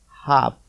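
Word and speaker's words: half: भी आपको ध्यान दीजिए यहां पर क्या लिखा है हाफ और यहां शब्द क्या है एक अंदर यल यहां पर यल साइलेंट कभी भी हाफ बोला जाता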